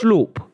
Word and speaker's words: Schlupp: It's really schlupp. Right. Schlupp. Yeah, because it's Dutch, and it's more of a soft ooh. Ooh, Dutch? sloop. Yeah, Jeffrey Sloop.